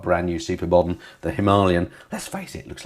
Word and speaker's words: Himalayan: And the Royal Enfield Himalayan, as it's properly pronounced.